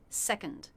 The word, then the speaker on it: second: The word second begins with the S consonant sound. Then the E as in bed vowel, so the jaw has to drop a good bit, se. The next syllable is unstressed, so it will be fast, second, knd. We have the K consonant sound and the schwa N sound. So the N takes over the schwa.